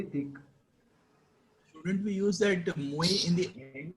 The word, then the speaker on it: muy: How do I pronounce MUY? I pronounce it as muy.